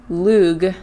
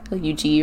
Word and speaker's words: Lug: The primary deity, Lug, L-U-G or Lug, is said to be Cuchulainn's father.